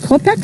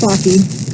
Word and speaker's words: Clocky: Is it Kopek? Oh, I accept all pronunciations, but it's Clocky. Copy. Clocky. Like clock, but with an E.